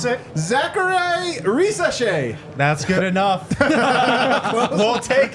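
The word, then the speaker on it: Zaccharie Risacher: And they are taking Pronounce it. Zachary Risashe.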